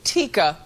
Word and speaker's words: Taika: And his sister, Taika, who they pronounced Tika.